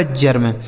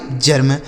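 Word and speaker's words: germ: जी ई आर एम यह लिखा गया दोस्तों आपका जर्म। जी ई आर एम जर्म W sorry V ई आर वी यह लिखा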